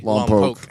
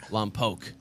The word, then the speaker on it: Lompoc: Pronounce it correctly for me. Lompoc. Lompoc.